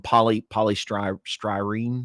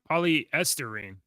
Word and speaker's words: polystyrene: Polystyrene, how do you say that? Polyesterine. Polyesterine, yeah, that's right. Yeah, polyesterine. Okay, thank you. No, polystyrene.